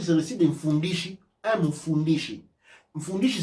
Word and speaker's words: Mfundishi: je pense, allez directement sur le site de Fundishi. Quand vous achetez sur Amazon, vous envoyez l'argent chez Amazon. Mais quand vous achetez sur le site de Fundishi, Mfundishi.